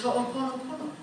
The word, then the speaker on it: Ho'oponopono: And in Hawaii, we pronounce all vowels. All vowels are. So it's really very easy. It's Ho'o, Pono, Pono, okay?